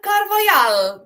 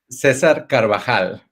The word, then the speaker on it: Carvajal: And today I would like to welcome into the studio Cesar Carvajal. Do I say it correctly? Cesar Carvajal. Carvajal, like Grisa.